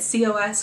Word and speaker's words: COS: next was this cause I know how you say it cos cause cardigan I was